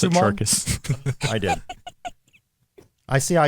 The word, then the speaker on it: Chacos: his You just daughter's pronounced it costume on. Charkis.